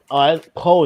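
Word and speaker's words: Pugh: Poe, that's how you say it. I thought it was P.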